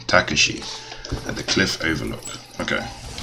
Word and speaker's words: Takashi: you'll see speak with takashi that's how you pronounce the name takashi at the cliff overlook okay what you gotta